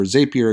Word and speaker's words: Zapier: a third-party app called zapier which is or zapier as they pronounce it which is available inside